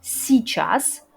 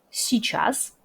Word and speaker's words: Сейчас: Сейчас. Notez que dans la façon courante, on ne prononce pas le y au milieu. Сейчас.